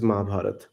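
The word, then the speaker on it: महाभारत: I mean, Mahabharat is the Hindi, or the native pronunciation of this epic. Hmm. Uh, you can call it Mahabharata, which is more like an English pronunciation. So Mahabharat or Mahabharata, anything is fine.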